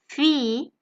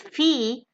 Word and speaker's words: Fee: The same vowel can occur twice in a German word together, as in the example Fee. Now, interestingly, you have seen this word in English too, and it means fee, which is any amount that a person gets